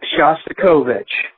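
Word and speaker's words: Shostakovich: And I believe the way you pronounce the name of the composer that you mentioned is Shastikovich.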